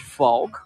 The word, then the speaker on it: Valk: two parts the first part is Valk and the Dutch word folk while we're looking by